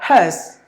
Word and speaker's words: hearse: No, it's like has. Just like the word, this marker belongs to hers, like it belongs to her. So we say has. That's exactly the same pronunciation for this word.